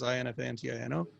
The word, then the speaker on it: Infantino: Infantino is spelled like it sounds, Infantino.